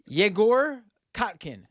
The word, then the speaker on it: Egor Kotkin: ussr and currently living in moscow russia uh jagor katkin thank you so much for joining me and